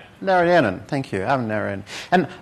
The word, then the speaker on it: Narayanan: Narayanan.